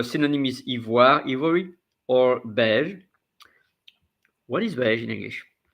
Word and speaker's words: beige: And here in French, you say beige, beige. You say really beige and not beige.